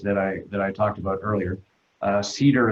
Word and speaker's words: CEDR: Cedar is one, which is spelled CEDR, from Tucson, or Bent Erickson from Oregon.